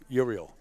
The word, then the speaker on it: Euryel: I believe he pronounces his name Euryel. Is that like Jor-El from Superman, the father? Euryel.